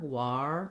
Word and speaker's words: war: the word are okay so when we get to war and warrior i like rewriting it this way like the word um i wore the clothes because i think that the the w-a-r can be confusing um because again ar we might think r war but we don't actually have that sound in war warrior so you need rounding